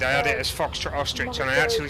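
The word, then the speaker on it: Österreich: I figured you were from Ostrich, which is how you say Austria in German.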